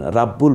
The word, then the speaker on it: রব্বুল: গইন কফ র এই আটটা হরফে জবর হলে আকার উচ্চারিত না হয় একক উচ্চারিত যেমন খলিদিন সামাদ রব্বুল আলামিন রাব্বুল বলছি না রব্বুল বলছি র এর উপর